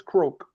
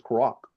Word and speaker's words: Croak: this sister, Marion Rogers Croak, I used to try to pronounce her name as Croak, but they says Croak just like a frog, so you got to understand and respect that.